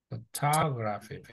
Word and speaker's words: photography: Nó có mỗi âm này là âm nhấn nè, là chữ O đó. Nhưng mà cái này là âm photography. Photography. Yeah. Photography. Photography. Photography. No, nó phải là âm gra đâu, nó là nó không có cái âm gì cả.